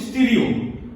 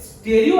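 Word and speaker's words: stereo: isomer तो what about स्टेरियो isomer स्टेरियो meaning of स्टेरियो actually pronunciation होची स्टीरियो हां हमें ओडिया लोग कोन स्टेरियो कहि दोछि स्टेरियो मींस स्पेस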